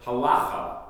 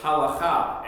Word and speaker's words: halacha: We've all heard the word halacha, or halacha as it is often pronounced.